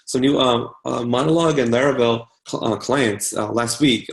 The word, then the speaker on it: Laravel: she just released so new um monologue and laravel on the clients last week I'm actually really